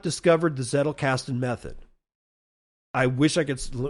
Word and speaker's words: Zettelkasten: Z is in Zettelkastn. Like kettlecast, but Zettelkasten.